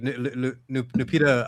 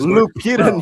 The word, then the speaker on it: Lupita: Like, Nupita, I can never say her name. Lupita is Lupita.